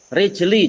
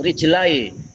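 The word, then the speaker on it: رجلي: Rijli jangan rijele.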